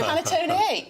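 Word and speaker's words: panettone: Panaton. Yes, that's panaton. That's how you pronounce it.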